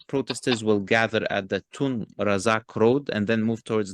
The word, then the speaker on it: Tun Razak: Okay, just for the record, Tun Razak Road is how you pronounce it, mate, okay?